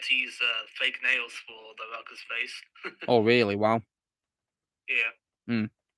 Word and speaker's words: Baraka: Yeah, Baraka, yeah.